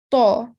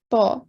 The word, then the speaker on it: ط: Ta, okay? The tongue is raised to make it thick and heavy. All right? Ta.